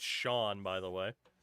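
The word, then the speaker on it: Chone: I wonder how many people don't realize that C H O N E is pronounced Shawn, by the way.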